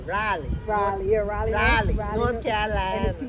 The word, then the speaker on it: Raleigh: And now, the way you have to say that, you gotta say Raleigh.